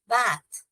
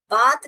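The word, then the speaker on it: bath: बैथ बैथ डड you have a बैथ? बात भी नहीं बोलना चाहिए।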